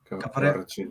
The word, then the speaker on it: Kvaratskhelia: Kvaratskhelia. Kvaratskhelia.